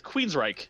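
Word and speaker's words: Queensrÿche: No, You're that's not what pronouncing the name of that band correctly. It's Queensryche.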